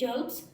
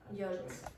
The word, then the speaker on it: yolk: A weird sauce made by egg yolks. Egg what? Yolks. No. Okay. So the pronunciation of this word, you should learn this for two reasons, the pronunciation.